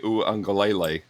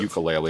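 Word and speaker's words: Uiagalelei: looked pretty good but DJ unclelay by the way I said it correctly I was joking last week when it said ukulele I just wanted everyone out there to know that I do know how to say it correctly and I'm saying it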